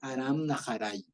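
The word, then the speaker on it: ארם נהריים: en la Biblia Mesopotamia no se dice Mesopotamia ya Mesopotamia es del lugar es del nombre occidental o sea se dice en español Mesopotamia pero eh en hebreo se dice aram naray Ya y aram era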